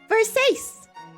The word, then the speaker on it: Versace: idea what that is our next word is Versace say it with me verses I do believe this word is of Italian origin first Ace just like safe and siete verses perfect perhaps there